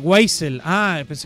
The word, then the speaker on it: Wiesel: servir don pepe gas se pronuncia whitesell wiesel wisin yandel ok mal chiste es guay cel gracias por decirme okay